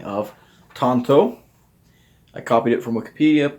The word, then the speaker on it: tanto: thing has to say Tanto Tanto so honestly in the Japanese it does sound a lot more like Tanto listen to that again Tanto it sounds like tanto so here let oh